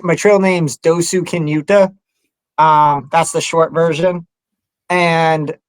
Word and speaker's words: Dosukinuta: My trail name's Dosukinuta.